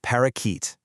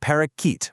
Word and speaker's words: parakeet: You don't pronounce it parakeet with a hard, clear a in the middle. That middle syllable is completely unstressed, so your tongue just relaxes right in the middle of your mouth and outputs this soft neutral uh sound.